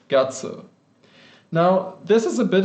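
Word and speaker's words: 月: So the Middle Chinese word for moon or month, which this character was used to write, was something like ngot. And that's where we get this modern Japanese pronunciation, this onyomi of gatsu.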